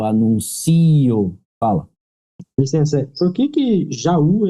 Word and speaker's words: Jaú: Licença, por que Jaú é acentuado? É hiato, né? Já, tracinho, U. Onde o U é tônico e está sozinho.